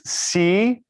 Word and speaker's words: Siser: lesson in my classes are normally how to pronounce Siser. So it's Siser.